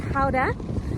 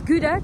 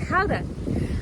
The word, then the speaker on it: Gouda: spend one night in Howder, which is Gouda to the English. We don't pronounce it like that. It's Howder, and then we're getting our ferry tomorrow.